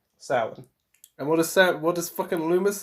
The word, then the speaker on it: Samhain: The reason he pronounced it Samhain is because it looks back in the 80s and back in the 70s there was a rule of like whatever's written you must say.